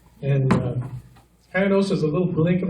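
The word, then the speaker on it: Coyanosa: When we lived in West Texas, in Cayanosa, that's pronounced Cayanosa. And Cayanosa is a little blink of a town.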